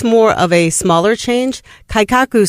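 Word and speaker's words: 改革: So, and I'm going to mispronounce it, I'm sure, but it's kaikaku.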